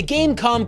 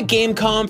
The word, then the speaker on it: Game.com: a slick high-tech marvel but the dot is silent it's called dan calm